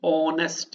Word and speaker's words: honest: R in other words you can say that H is silent and it goes to O therefore an honest manner in whole honest